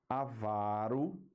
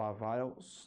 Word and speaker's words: avaro: a sílaba mais forte por exemplo ó o que nós temos aqui é o correto acentuação correta avaro sovina né o avaro sovina e interim recorde rubrica ibero tá ainda tem um aqui